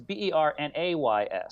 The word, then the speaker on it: Bernays: So I'm sure that your prepper audience, your reluctant preppers, are familiar with Edward Bernays. Okay. Like Bernays sauce? No. It's spelled differently. It's Bernays. Sorry.